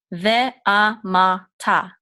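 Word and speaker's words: ואמרת: We're not going to say the r here because it comes after this specific vowel. It's just a rule.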